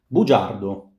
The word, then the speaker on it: bugiardo: Bugiardo, bugiardi. G followed by a E gives J. Again, G followed by a front vowel gives us J.